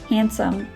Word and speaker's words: handsome: to all words and there are some other common words where it is not pronounced this d sound for example handsome and sandwich you don't pronounce the d in those two words so it is best